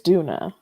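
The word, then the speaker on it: Doona: Duna the girl downstairs Duna oh Duna like do I said do d o o n a Duna is that like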